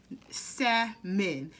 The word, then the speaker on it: salmon: here to do salmon sad men the l is silent y'all the l is solid